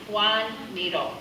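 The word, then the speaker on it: Joan Miró: um it's pronounced and I'll say it the way he would have said it himself speaking Spanish which is his native language Juan needle but we don't expect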